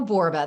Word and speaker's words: Borba: Oh, I'm Michele Borba. The most important thing you need to know is that I'm a 1L Michele. So it's Michele Borba, rhymes with Zorba.